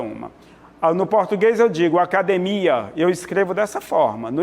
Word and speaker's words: academia: para no cio melhor no português acadêmia é assim que nós pronunciamos a língua portuguesa espanhola academia então a tônica é de ir em português academia a tônica Mia Então essa palavra sim ela é tônica ela tem sílaba tônica diferente em ambas as línguas